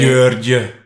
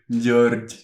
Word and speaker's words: György: György. George.